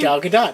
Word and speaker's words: Gal Gadot: wow he's playing Wonder Woman that's how you pronounce her name Gal Gadot yes oh I didn't put that in there